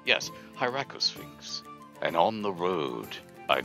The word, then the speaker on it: Hieracosphinx: So, Hieracosmith. Hieracosphinx. Oh, I just stuffed the first two ways of saying that. It's not Smith, it's Sphinx. Yes, Hieracosphinx.